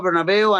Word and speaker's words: Bernabeu: It's, yes, the Bernabeu, right? How do you pronounce it?